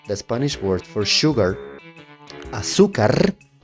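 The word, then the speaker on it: azúcar: For example, the Spanish word for sugar, aukar. Pronounce it with me for anyone watching. Aukar. Aukar with stress in the second syllable.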